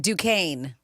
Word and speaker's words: Duquesne: It's pronounced Duquesne. Oh, Duquesne.